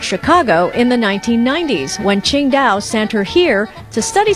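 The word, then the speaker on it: Tsingtao: While it's spelled differently, it's pronounced the same way the city is pronounced, Qingdao.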